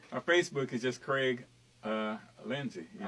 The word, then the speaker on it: Lindesay: Our Facebook is just Crayge Lindesay. All right, y'all. And it's spelled Crayge. Right. So like crazy. I learned that out. Lindesay. My brother, he makes sure that you say Lindesay rather than Lindsay and stuff.